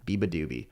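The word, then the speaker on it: beabadoobee: I would see that in concert great song Biba doobie I see I learned how to say her name Biba doobie Biba is cool because um I was watching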